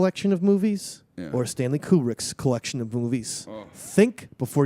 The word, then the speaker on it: Kubrick: brick first of all it's kubrick not cool brick you say cool brick well i'm going with cool brick because german pronunciation because uh eyes wide